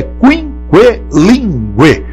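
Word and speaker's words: quinquelíngue: A pronúncia correta é quinquelingue. Pessoa que fala 5 idiomas. Agora o dicionário tem que avisar que todos os U's aí devem ser devidamente pronunciados.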